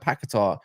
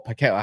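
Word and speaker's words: Paquetá: But you look at Paqueta or Paqueta, however you want to say his name, right?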